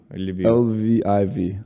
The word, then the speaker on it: Lviv: really great city love you how do you spell it olivia l-i-v l-v-i-v i love you lviv okay like they love